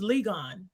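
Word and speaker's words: Ligon: pronounce your name it's legon vegan yes spell it l-i-g-o-n okay okay let me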